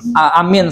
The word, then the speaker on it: amin: Ya, kalau yang dimaksud di dalam amin setelah Fatihah itu cara bacanya amin, gitu ya. Bacanya A-nya panjang, min-nya juga panjang.